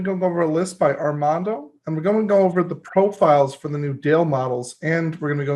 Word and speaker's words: Armando: It's pronounced Armando.